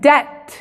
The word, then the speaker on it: debt: Cuando la B viene antes de la T, en la misma sílaba, la B es muda. Como por ejemplo en debt.